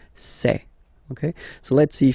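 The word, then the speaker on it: ces: then set here and for the plural say say really open this e say Okay so let's see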